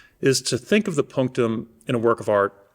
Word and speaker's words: punctum: The punctum the punum. The punctum. Yes. And And you have to pronounce it that way. Pronouncing punctum in English just doesn't have the same vibe.